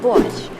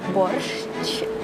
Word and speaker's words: Borsch: to reveal a secret of how to cook bush first of all let's pronounce it correctly it's not Porsche or something like that its Bush and so